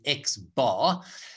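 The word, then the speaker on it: x̄: a hat on so then the way we pronounce it is x bar so all we do is in the numerator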